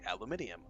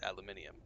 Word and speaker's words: aluminium: brain immediately was like aluminium which is the British pronunciation and my brain literally